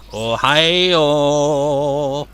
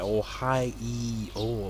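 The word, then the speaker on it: おはよう: But when you say it, Ohio, it sounds like there's an E in there. Ohio, but it isn't.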